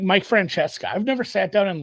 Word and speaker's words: Francesca: It's Francesca.